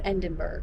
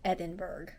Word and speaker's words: Edinburgh: Yes, I know, I said it wrong. It's Edinburgh. Do you hear it?